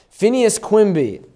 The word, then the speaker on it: Phineas Quimby: his name Phineas Quimby Phineas Quimby pretty much spelled like it sounds Phineas Quimby he's a healer is